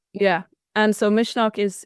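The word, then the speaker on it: Misneach: So it's called Mishnock Festival. Mishnok. Okay. Mishnock is the Irish word for courage. Oh, okay. Um, Right. yeah. And so Mishnock it's the first year that it's happening.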